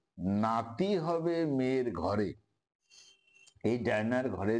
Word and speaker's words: Danae: এই রাজার এক বিউটিফুল ডটার, সুন্দরী মেয়ে ছিল, তার নাম ছিল ডায়ানি। ডাইরেক্ট বানানটা ডায়না নয়, DANAE, ডায়ানি।